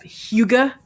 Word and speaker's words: hygge: Hugo. Hugo. You pronounce it Hugo. Hugo. Gotcha. So it's To a which I cozy- say, right, Higa.